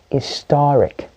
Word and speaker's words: historic: long as it got it's got an ic at the end of it the real stress is on the ceiling wrapper for the cylinder that has the ic so i know it's not historic no that's me stressing the his i know it's not historic no it's got to be historic historic that is so fascinating